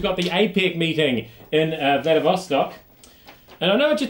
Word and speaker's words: Vladivostok: Vladivostok, that's how they pronounce it over there, that you might not know.